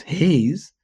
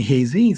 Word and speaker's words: Hayes: everybody saying their name my name is Hayes but some people call me Haz so I have two different syllables hay BL of space z Trisha say your name